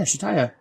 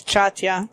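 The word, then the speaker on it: Chataya: Eddard is leaving Shataya's brothel. Shataya? Where'd that come from? That's her name, Shataya's brothel. Is that how you say that? Yeah, Shataya. Oh. I read it as Chatya.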